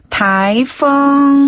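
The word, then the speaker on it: 台风: 같기도 하고 다이 그렇죠 이때 타이는 밑에서 위로 부드럽게 올려주세요 타 그다음에 펑 바람 풍자 그래서 한자인 태풍을 그대로 중국식으로 읽은 건데요 발음은 타이퐁 타이이었습니다 다이네이어서 우리 태풍이 온데요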